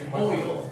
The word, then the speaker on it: boil: Everybody say boil. Boil. Now, actually, it's one syllable. It's a little weird, though. It's kind of like you're saying boy, right?